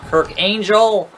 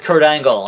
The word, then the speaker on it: Kurt Angle: as we hit the spine Buster here on Kirk angel I had somebody in the comments get like was like his name's not Kirk angel I'm pretty sure it's Kurt Angle and I'm like wow you obviously weren't watching